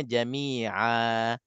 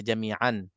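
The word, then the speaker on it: جميعا: ada pada tanwin itu digantikan dengan huruf maddiah alif maddiah jadi bacanya Jamia Jamia ini basic sangat-sangat jadi kalau saya siapa-siapa terlepas dia akan baca Jamian tapi insya-allah antara yang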